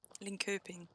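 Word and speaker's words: Linköping: Can you give us a phonetic pronunciation so that we can pronounce it right, Moomin? Linkoping.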